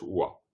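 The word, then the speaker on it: པ: Si le pa est la dernière syllabe d'un mot, il se prononce wa.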